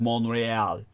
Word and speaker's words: Montréal: in what Amy KO knowing French far better than I would pronounce as monreal in the Forgotten monreal